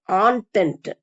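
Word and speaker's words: entente: இன் தி triple ஆன்டென்ட் இது என்டேன்னு படிக்கக்கூடாது இது வந்து ஒரு பிரெஞ்சு வார்த்தை இதுக்கு உச்சரிப்பு வந்து ஆன்டென்ட் நேம் தி கண்ட்ரிஸ் இன்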